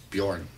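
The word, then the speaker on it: Björn: like a J like like a Bjorn that's pronounced with a Y as Y Bjorn yo for feel for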